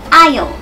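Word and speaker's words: aisle: ต้อง นะ คะ คือ i i i คำ นี้ เหมือน กับ ไ เลย ค่ะ ไม่ ออก เสียง S นะ คะ ลืม เสียง S ไป ได้ เลย เลย E E นะ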